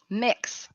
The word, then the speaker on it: Mx: But yeah, anytime I see that, I have I hear an like an I, like a short I sound.